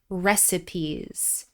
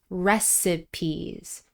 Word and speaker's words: recipes: you can pass down recipes. By the way, make sure you're pronouncing this word correctly with 3 syllables, and the stress is on the first syllable. Recipes, recipes.